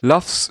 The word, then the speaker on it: LUFS: LUFS should be pronounced like loves.